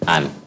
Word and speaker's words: Anne: Anne. And then it's ANN. Anna. No, not A. NN. That's still Anne. You know the E is silent in both cases.